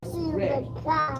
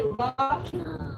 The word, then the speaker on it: Ra: Array. When you say Ra, that's not correct. If you read the language, then you will learn that it is a long A sound.